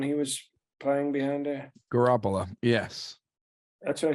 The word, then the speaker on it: Garoppolo: Garoppolo. Yes. That's what I said, Janine Garofalo. It's Jimmy Garoppolo, but yes. However you pronounce it, Janine Garofalo was very handsome, and